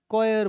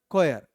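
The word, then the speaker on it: choir: हम क्या बोलते हैं कोयर बोलते हैं क्या बोलते हैं है कोयर का स्पेलिंग बताएंगे क्या लिखा हुआ है सी एच ओ आई आ क्या लिखा हु स्पेलिंग हमारा सी एओ आई आर कोयर क्या यह बात क्लियर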